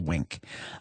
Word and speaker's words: Winc: as a new member of Wink.